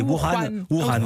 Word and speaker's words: Wuhan: Là, je pense à Arnaud Miguet et son caméraman Gaël Caron qui sont toujours, j'arrive jamais à le prononcer, Wuhan, c'est un H qu'il faut prononcer comme un R.